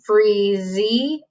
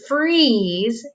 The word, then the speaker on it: freeze: the silent sneaky e when we say the word freeze we're not saying freezy or frieza we're just saying freeze because the silent sneaky e doesn't say anything it is silent but it makes the other vowel say its name our second letter pattern